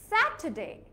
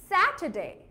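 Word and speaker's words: Saturday: And lastly স্যাটারডে, যদি আমি British অ্যাকসেন্টে বলি তাহলে আরটা উচ্চারণ করব না, কি হবে, স্যাটারডে। আর in American অ্যাকসেন্টে it will be স্যাটারডে। আমেরিকানরা টিটাকে ড হিসেবে উচ্চারণ করে, ঠিক আছে?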